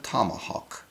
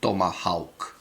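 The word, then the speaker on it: Tomahawk: ne me dérange pas, mais les Américains, le président Trump et tout le monde à la Maison Blanche prononcent « Tomah Hawk », et non « Tomahak ».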